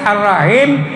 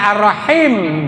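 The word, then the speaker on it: الرحيم: Kemudian karena salah di hak yang terakhir arrahim gitunya mestinya arrahim gitu ya.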